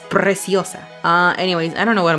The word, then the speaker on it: Preciosa: Yeah, Preciosa, if you gringos want to pronounce it like that. Preciosa. It's Preciosa.